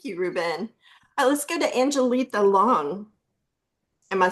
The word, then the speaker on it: Angelita: Let's go to Angelita Long. Am I saying your name right? Yes, ma'am. It is Angelita.